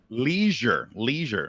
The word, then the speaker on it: leisure: Leisure. It's pronounced leisure. No, it's leisure. Okay, that's fair. Definitely leisure. You guys speak English wrong. It rhymes with pleasure because you have leisure and pleasure.